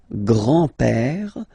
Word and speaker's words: père: Le grand-père. Remember, accent grave like that. It's this opened père. Le grand-père. Le grand-père. And then the feminine form, grandmother, la grand-mère. La grand-mère. Okay, so les grands-parents, le grand-père, la grand-mère.